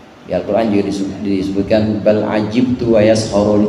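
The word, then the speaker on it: عَجِبْتُ: Karenanya ditunjukkan juga di sini bukan hanya di Al-Quran, Di Al-Quran juga disebutkan bal ajibtu wa yaskhurun. Kalau bacanya ajibtu berarti aku heran, maksudnya Allah.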